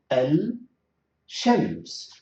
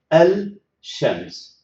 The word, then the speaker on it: الشمس: You can see the poor tongue will move from lam to sheen, and that is very exhausting. Al-shams.